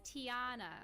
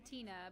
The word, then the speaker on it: Tiana: Oh, so her name is Tiana. Tiana, there we go. I was close. I was thinking Tina, but yeah, there was definitely another syllable in there.